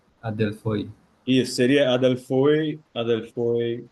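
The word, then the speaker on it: ἀδελφοί: É Adelfoi. Adelfoi. Isso seria Adelfoi. Adelfoi. É no Erasmiano, que é aquela pronúncia mais didática, né?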